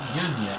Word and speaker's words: Jania: Apparently, really, it's Yanya. Jania, yeah. So with a J instead of a Y.